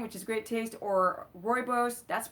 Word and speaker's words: rooibos: this candida thing, which is great taste or rooibos. That's pronunciation cuz I went to South Africa and that's where the tea is from.